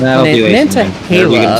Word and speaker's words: Nantahala: We are not stopping in Nantahala, or however you pronounce that. Nantahala, apparently.